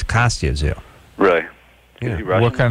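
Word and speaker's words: Kostya Tszyu: He doesn't pronounce it Kostya Zoo, it's Kostya Zoo.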